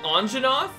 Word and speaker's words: Anjanath: trying to look to you didn't they just pronounce it anjanath they just said it correctly and they didn't